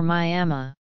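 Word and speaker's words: မြန်မာ: Depending on the register used, the pronunciation would be Bama or Myama.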